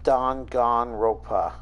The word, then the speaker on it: Danganronpa: Also, it's pronounced Danganronpa, I think. It's as good a translation, or it's as good a pronunciation as any.